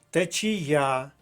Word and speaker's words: течія: можна і про себе течія Зверніть увагу на голос на останній склад на звук а течія третій склад течія слово іншомовного походження жалюзі